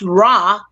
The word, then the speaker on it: Roi: Rah means king because in French, Roi, which is pronounced Rah, means king in French.